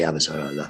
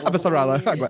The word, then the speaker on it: Avasarala: At the beginning, they had problems with pronouncing my name, and they said, leave it to will say Avasarala. Avasarala.